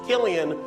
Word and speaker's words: Cillian: Interesting fact about his name, it's pronounced Killian when he does drama. When he does comedy, it's Cillian.